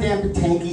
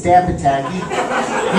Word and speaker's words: Potacke: It's not Dan Patanky, it's Dan Patanky.